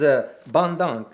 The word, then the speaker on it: Bandung: The city is Bandung. You got it correct. Bandung. Oh, Yeah. It's hard to pronounce, but the point in this is that